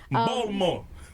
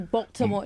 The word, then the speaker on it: Baltimore: See how I said it? That's not how you say That's it. not how you say. Please say it right, because KJ will correct me. I say it wrong. I do Baltimore. No, that's not. Baltimore. It's, She say the T.